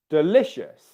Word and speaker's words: delicious: Zenny, the stress in that word is on the syllable le.